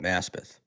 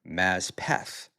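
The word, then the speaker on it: Maspeth: But people from Maspath just call it Maspath. People not from Massith call it Mazpath because that's the name of the original Indian tribe that was there supposedly. Um but uh Maspath was a great neighborhood and um like a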